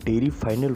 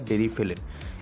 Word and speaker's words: Deriphyllin: इसे कई लोग डेरी फाइनल बोलते हैं, लेकिन इसका सही प्रोनाउंसिएशन होता है डेरिफिलिन।